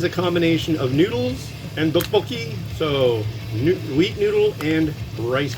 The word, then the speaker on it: Rapokki: You might be like, why do you say it like that? Like, that's how you say it. Rapokki. It's, how do they say it? It's either a soft T or a hard D.